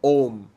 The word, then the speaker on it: Om: it when you read it om and you pronounce it ohm you are actually doing it right when you